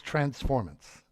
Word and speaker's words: transformance: saying you're wrong well because they're designed for trances they're transformational they're live ex improvisations and they're a performance so it's transformance transformance i love it